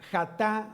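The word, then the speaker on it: חָטָא: que tienes que anotar, viene del hebreo jatá con K al inicio, y es con J, jatá, acento en la última A.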